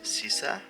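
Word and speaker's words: Xißa: But anyway, this is Sisa, spelled in a very weird way, which I did on purpose. I wanted a unique name, so it's spelled so her name is spelled very uniquely. the German double S, also called SZ, and then A. Yeah, it's I don't know if X's can make an S sound, but now they do at least.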